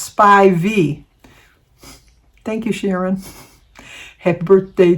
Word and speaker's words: Spivey: s p i v e y but it's pronounced spy V thank you Sharon happy birthday to you happy